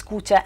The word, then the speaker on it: Kucha: It is pronounced both as Kucha and as Kuchi, which is why I'm constantly referring to Kucha or Kuchi.